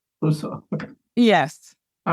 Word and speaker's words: Brousseau: Maybe in closing, you could tell me how to pronounce your last name. It's Brousseau. Brousseau.